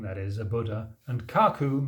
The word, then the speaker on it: 覚: it is Hatchi n gaku the eight truths of a great human being Hachi means eight d means a great human being that is a Buddha and Kaku means oh pronounced here as gaku means an intuitive reflection